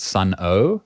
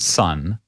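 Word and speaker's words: Sunn O))): Oh, actually, I think it's O and then brackets, but apparently you don't say the O and bracket part.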